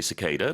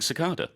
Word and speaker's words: cicada: I think in the US they normally say cicada, but I grew up learning cicada. You say cicada, I say cicada.